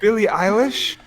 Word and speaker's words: Billie Eilish: whatever you want to pronounce it. Billie Eilish?